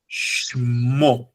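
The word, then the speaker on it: שמו: So the root of the word is Shem, but the pronunciation is dictated by this, that shewa, the two dots going down, which means don't say the segol, the chataf segol, don't say it, just say Shmo.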